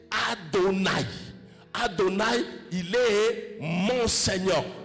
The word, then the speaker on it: Adonaï: Lorsque dans les écritures, vous trouvez ce mot-là a quatre lettres. H Y H WH H qu'on a déformé en Yahwé, en Yahvé, en Jéhovah, vous prononcez Adonaï.